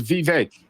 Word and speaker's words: Vivek: How do you pronounce his name? Vivek. I think he says Vivek.